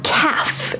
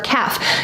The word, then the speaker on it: calf: Behind your shin is your calf, your calf. Now, strangely enough, this is also the word for a baby cow. A baby cow is a calf. Notice the L is silent, but this muscle here, back here is your calf.